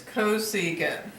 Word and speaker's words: cosecant: secant and do you remember how to pronounce this one c s c it's cosecant so sine of 45 so